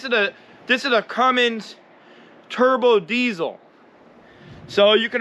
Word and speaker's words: Cummins: because this is a this is a cummins not a cummings a cummins you know what i mean a cummings the cummings is the other truck uh i hear some